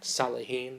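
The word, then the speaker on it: Saleh: Salah.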